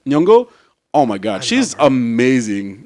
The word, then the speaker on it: Nyong'o: Nyong'o. Nyong'o.